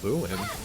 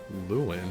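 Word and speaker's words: Luin: Luen. Yes. I don't think that's the name. It is. Luen.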